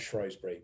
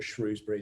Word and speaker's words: Shrewsbury: Although I love Shropshire, love Shrewsbury or Shrewsbury, depending on how you say it.